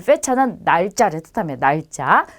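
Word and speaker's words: fecha: 그래서 발음은 영어랑 똑같이 F 발음처럼 해주시면 돼요. 그래서 파밀리아, 페차, 펠리스 이렇게 발음하시면 되겠습니다.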